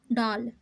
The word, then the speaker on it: डॉल: जैसे कि देखिए डा है और डा के ऊपर ये अर्धचंद है, तो इसका उच्चारण कैसा हुआ? अ डॉल। ठीक, ये जो डॉल के साथ अ का उच्चारण हो रहा है यही साउंड ये अर्धचंद हमें दे रहा है।